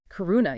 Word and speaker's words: karuna: the second emotion karuna is that how you pronounce it karuna yeah it means compassion it's about recognizing that